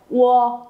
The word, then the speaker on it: 我: Đó, bản thân nó khi mà biến thành âm tiết tự thân, nó biến thành âm tiết thì U sẽ chuyển thành W và giữ nguyên cách đọc.